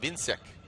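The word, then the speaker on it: Więcek: Just, I mean, you know, phonetically his name is he's Polish, so it looks like Wojciech, but it's pronounced Vincic.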